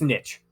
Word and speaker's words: niche: say it but that's it's just niche the e the e is silent uh let's see and